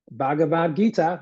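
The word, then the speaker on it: Bhagavad Gita: just and again uh here we go always butcher the terminology I hope I finally got it right this time bhavat Gita there we go finally got it right one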